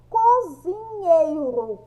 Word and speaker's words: cozinheiro: Qual é o som mais forte? É o som do nhei, tá? Do nhei.